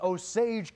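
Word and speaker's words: Osage: it there as well getting the correct pronunciation this is oage County by the way thank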